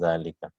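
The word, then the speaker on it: ذلك: So hadha and zalika is pronounced as hadha and zalika, but alif is not written.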